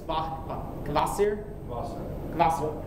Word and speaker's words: Kvasir: This one is Kvasir. Kvasir. Yeah, Kvasir. The K is still is pronounced. No, Kvasir. It does something to the V. It aspirates the V.